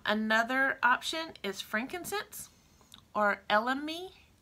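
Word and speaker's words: elemi: in our skin another option is frankincense or lme lme is spelled e-l-e-m-i it's called the poor man's frankincense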